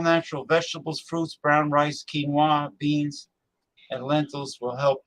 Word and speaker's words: quinoa: great i love it it's pronounced pronounced quinoa it's a peruvian it's like amaranth so